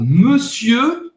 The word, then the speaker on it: monsieur: Monsieur, presta bem atenção, não é monsieur, não é monsieur, não é monsieur, fechado. Esse E faz a boca do O e fala monsieur. Você não vai pronunciar o R no final.